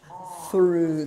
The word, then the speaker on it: through: It has to have a little bit more R. Through, through, through, through. I'm hearing to. And then I'm hearing through. Through. Through. Through. Through. Through. Yeah, you have to have a little bit more R because you can say to and then you can say through and then you can say through. That's if you have all three letters.